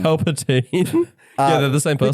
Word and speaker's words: Palpatine: She's basically Palpatine, like Palpatine, I should say. I pronounced that wrong. Palpatine.